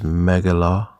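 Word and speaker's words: מגילה: So, you can see here the pronunciation of it in the Hebrew is megala.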